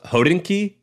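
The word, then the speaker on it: Hodinkee: read it all the time but is it pronounced hodinki yeah oh dinky a watch blog that also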